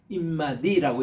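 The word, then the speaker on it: עִמָּדִי: 요거는 뭔가니 with me 나와 함께는 임마디라고 이렇게 발음합니다.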